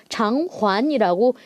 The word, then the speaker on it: 偿还: 요거를 잘 구분해 주시고 그다음에 상환하다 할 때 환자 이거 하이로 읽으시면 안 되죠. 장환이라고 읽으셔야 됩니다.